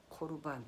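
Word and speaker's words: קָרְבָּן: 아니고 만남이 본질이란 말입니다 히브리어로 이 재물을 고루 반 코르 반 이렇게 발음을 하는데요 고루 반 이라고 하는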